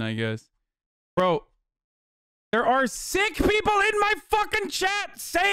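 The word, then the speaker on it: Sikh: against a sick person seek i mean it's sick that's how you say it so shut the up it's not seek right people always say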